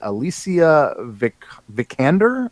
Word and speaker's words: Alicia Vikander: But apparently Lara Croft is going to be played by Alicia Vikander.